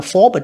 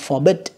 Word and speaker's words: forbid: Chúng ta không được là forbid mà forbid.